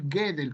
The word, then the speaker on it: Gödel: Este de acá es Kurt Gödel, o Kurt Gödel, como algunos pronuncian su alemán, ¿no?